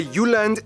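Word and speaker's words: Jylland: Denmark is made of the you land not Jutland peninsula that connects to Germany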